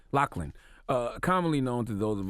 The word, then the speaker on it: Loughlin: Did I pronounce their names right? Loughlin.